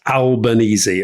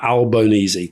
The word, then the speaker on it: Albanese: by the way Rory we had dozens of responses to our how do you pronounce his name and the overwhelming including from Albo himself is it's Albanesei okay alba Albonyi kind of thing um was that he